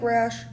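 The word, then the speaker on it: Rasch: Olive is part of rash pronounced like rash but spelled r a s c h how however this is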